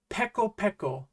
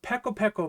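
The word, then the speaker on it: ペコペコ: How would you pronounce this? It's peko peko, meaning ravenously hungry, starving, ready to eat your own shoe.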